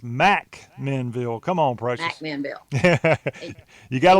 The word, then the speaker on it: McMinnville: between Murfreesboro and Chattanooga is not McMinnville it's Mack menville come on prices you